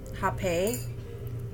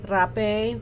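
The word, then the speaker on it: rapé: This is indigenous snuff, hape, rape. There's different ways of pronouncing it, and that's coming straight from the tribes out in Peru, out in Colombia.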